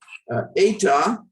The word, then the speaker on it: eta: Eta is an E also, but we put this line over it and pronounce it A. Fete or A as an AY. This is not I sound, this is A.